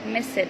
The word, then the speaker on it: missed: So the ed on the word miss, it be pronounced as ta. Why? Again, because we said that the words that ends with s or p or f or sh or ch or th, when we add ed to these kind of words, it will be pronounced as ta, like missed, like stopped, like checked, and so on.